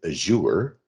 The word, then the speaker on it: Azure: is the http with azure and i'm saying it like that because azure mcfarland's a good friend of mine and she says that's how you pronounce it and so what this